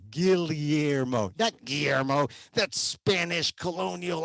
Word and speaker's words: Guillermo: i say my name gilliermo the double l is l-y guillermo that guillermo that's spanish